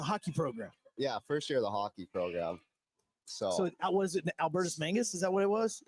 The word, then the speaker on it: Albertus Magnus: So was it Albertus Mangus?